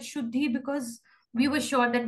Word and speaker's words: Shudh_hi: how should the game it is written as should he and pronounce that should be because we were sure